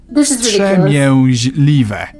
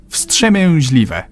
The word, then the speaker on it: Wstrzemięźliwe: V S Ts Zi E M I O Zi L I V E. Wstrzemięźliwe. Wstrzemięźliwe. Wstrzemięźliwe.